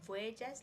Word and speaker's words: Voyedge: First of all, it sounds like Voyagers, like people on a voyage, but it's spelled like voy, as in the first letters VOY, then edge, like the last letters of knowledge.